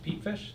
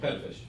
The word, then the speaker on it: Pettifish: The Cole College Junior High Band, Charlotte Madden, Addie Allen, Ben Lytle, Lincoln, is it Pete Fish? Did I say it right? Pettifish. Pettifish, thank you.